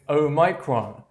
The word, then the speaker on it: omicron: note about their pronunciation the most common pronunciation for this word is omicron omegron omicron however there